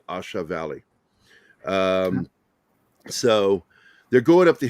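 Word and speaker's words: A Shau: I don't think they say Shao. I think they say Shah Valley, Asha Valley.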